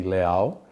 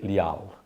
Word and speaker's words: Leal: Brazilian name, you say Leal. If you want to pronounce my name in a Portuguese name, you say Leal. Yeah. Yeah. Sounds kind of like legal, right?